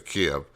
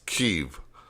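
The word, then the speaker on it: Kyiv: i want to say kim but keep i i don't know why i want i always want to say camp but it's keep look at keeve live on youtube i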